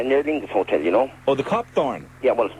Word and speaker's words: Copthorne: Yeah, near Lingus Hotel, Oh, the Copthorne? Yeah, well, we call it the Copperthorne, actually, is the correct pronunciation.